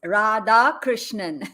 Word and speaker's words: Radhakrishnan: it's four syllables. It's Radhakrishnan. You can call me Rad.